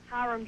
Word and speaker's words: Hiram: Is it Hiram? Hiram, Georgia? Hey, Hira. Rachel? Hiram, Georgia.